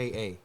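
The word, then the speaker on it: Pytka: Uh, the director, how do you say this name? PYT Ka. Pa. P YT Ka. Pitka. Pitka. Pitka. directed by Joe Pitka.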